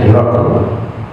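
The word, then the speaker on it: هرقل: Jadi Abu Sufyan pernah diutus jumpa dengan Kaisar, kepala negara Heraklius, kita sebut bahasa Arabnya Hiraql ya, membacanya Hiraql ya, bahasa Latinnya begitu, sering kita dengar Heraklius.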